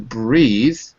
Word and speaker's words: breathe: To breathe has an E on it. Okay, so that's a long sound.